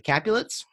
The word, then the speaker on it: Capulet: Those families are the Capulets, which is Juliet's family. It's easy to remember because Juliet rhymes with Capulet, and Montagues, which is Romeo's family.